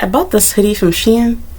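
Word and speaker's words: Shein: bought this hoodie from Sheen she en I always want to say she in it's hard for me to say Sheen but because it's spelled she in but anyway um yeah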